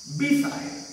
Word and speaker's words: beside: The next one, beside. How can we pronounce this? Side is right. Beside means after B. What is here? B is the weak prefix. So we have to use the stress after B.